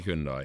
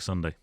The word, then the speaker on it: Hyundai: is is the Hyundai how do you say Hyundai Hyundai Hyundai Hyundai like sundai oh like Sunday but Hy hundy uh i2n are they